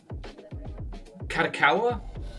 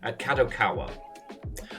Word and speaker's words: Kadokawa: that uh I always I always mispronounce it uh kakawa kadokawa uh so the Japanese publisher